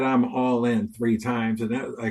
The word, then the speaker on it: Allen: joke and I said people pronounce my name wrong it's actually pronounced Allin so when you kept